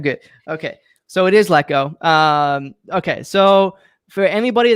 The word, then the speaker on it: Lecko: that's watching right now is your last name pronounced gecko it is let go okay see i thought in your bio it had showed with a g and i was like oh yeah i wrote it out hi phonetically it's like pronounced like gekko but that's good feedback i'll remove that okay yeah sometimes people say liko but it's let go i thought it was